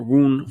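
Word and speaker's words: Wundt: year as a mnemonic when i look at voont's last name the wn kind of sounds like the number one depending on how you want to pronounce it he is for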